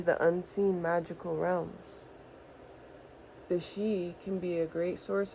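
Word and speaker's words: sidhe: It's pronounced she in the ancient Gaelic Oh.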